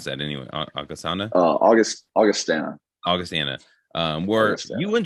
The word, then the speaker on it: Augustana: left you go to august how do you pronounce that anyway uh august augustana augustana um where you win 12-0 like we